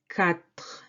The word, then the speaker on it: quatre: Quatre. Quatre. QU, this U doesn't affect the pronunciation. You just say K. Quatre. And this E, at the end is silent.